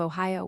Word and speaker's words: Ohio: To rhyme the second syllable of Ohio with T.